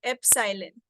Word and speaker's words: Epsilon: is this this symbol this means this is pronounced as Epsilon okay this is what is meant by the